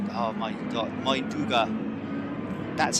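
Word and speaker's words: Mindaugas: It is Mingula. Oh my god, Mainduga. That's how you pronounce it.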